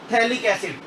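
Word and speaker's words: phthalic: क्या बोलते हैं इसको, थैलिक एसिड। इसमें P साइलेंट होता है, थैलिक एसिड, और इसी का दूसरा नाम है बेंजीन 1,2 डाई कार्बोक्सिलिक एसिड।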